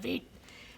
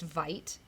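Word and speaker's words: Veidt: off your cat, Marsha, call off your cat, Veet. And I was listening to the Motion comic, by the way, and they were saying it's Vite. It's pronounced Vite.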